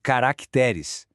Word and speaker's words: caracteres: No plural vira caracteres. A sílaba forte continua sendo a penúltima, t.